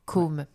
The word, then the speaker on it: Côme: Côme, le prénom, la bouche est plus fermée, plus ronde. C'est parce que c'est un O avec un accent circonflexe. Tout à fait. Donc Côme, comme ça.